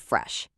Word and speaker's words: fresh: Notice the shh sound at the end of fresh. Do not hide it.